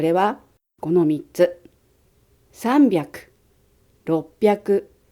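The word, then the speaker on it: 六百: roku và hyaku, rồi yon và juu, rồi kyuu, và thêm cả quy tắc đọc vào nữa. Như vậy, chúng ta đọc là roppyaku yonjuu kyuu.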